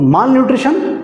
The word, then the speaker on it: malnutrition: इसमें दो टर्म हैं, एक है माल, अच्छा बहुत सारे लोग इसको मेल न्यूट्रिशन प्रोनाउंस करते हैं, ठीक है। सो it depends actually. So मेल न्यूट्रिशन भी लोग बोलते हैं और माल न्यूट्रिशन भी बोलते हैं, ठीक है।